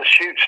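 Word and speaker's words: Chutes: of seven shoots and his shoots is spelled c h u Tes and seven shoot is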